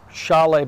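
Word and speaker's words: Šalé: day one yep uh Chalet by the way spelled sale s-a-l-e but that's how it's pronounced he's from the Czech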